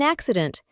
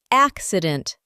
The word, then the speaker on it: accident: Arizona pronounces the word, with primary stress on the first syllable. Accident.